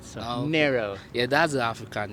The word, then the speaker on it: Nero: yeah so you said narrow though yes so um kids that I hear your pronunciation here we usually pronounce that Nero but I want to say it the way you say it so narrow yeah that's the African